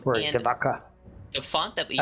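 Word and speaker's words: Devotchka: I think it's Dvachka. There it is. So um Dvaka the font that we used I don't know if that ch is a kai or a who knows.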